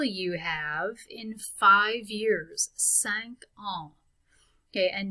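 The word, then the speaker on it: cinq: have in five years sank on okay and notice when i say sank that q at the end gets pronounced it's going before on which is a word that starts with a vowel so how old will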